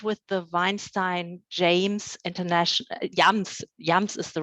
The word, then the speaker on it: JAMS: She has been awarded with the Weinstein James International, Jams is the right pronunciation, isn't it, Fidana? Yeah, Jams International Fellowship in the USA.